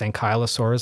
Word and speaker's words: ankylosaur: I've done some work looking at the preservation of these armored dinosaurs, ankylosaurs, and I want to know if... That's how you say it? I've always said ankylosaur. Tomato.